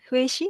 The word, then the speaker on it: Huhi: Did I pronounce it right? Huhi? Yes. Yes, that's correct.